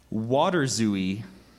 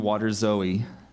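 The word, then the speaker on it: waterzooi: i g m Paradigm that's correct thank you water zooie water zooi may I have the language of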